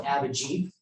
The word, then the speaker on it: Abhijit: you introduced me as Abhijit. He's like, most people can't pronounce it. So what I had to do is go Abhijit, like a Jeep, and just make it.